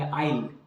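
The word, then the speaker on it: I'll: I tell you, देखिए कैसे आई और विल को डब्ल्यू साइलेंट करके एपोस्ट्रोफी के साथ लिखा हुआ है। इसको इंग्लिश में पढ़ेंगे आइल।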